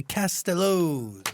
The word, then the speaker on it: Castellows: I think it's because of like Elvis Costello, which is why like people say it like that, but it's Castellows, like Castellows.